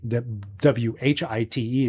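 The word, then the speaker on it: Wight: by the way, it's not spelled w y w h i t e, it's w h i g h t. That's how he pronounces uh White.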